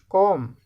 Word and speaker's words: comb: Comb, B is silent.